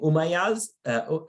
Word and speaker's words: Umayyads: You have the Umayyads. Steve, help me. Am I pronouncing it correctly?